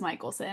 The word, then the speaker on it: Michelson: So many people do not pronounce my name right, but it is Michaelelsson. It just does not it's not spelled like that, right? Have an A in it.